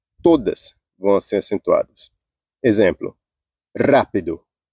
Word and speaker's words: rápido: vão ser acentuadas exemplo rápido rápido ó esse ra é a antepenúltima sílaba Então você Vai contando